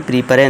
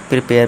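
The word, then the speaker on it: prepare: careful सावधान फिर है प्रिपेयर प्रिपेयर यानी कि तैयार करना इसे हम प्रिपरे नहीं करेंगे प्रिपेयर पढ़ेंगे ठीक है दोस्तों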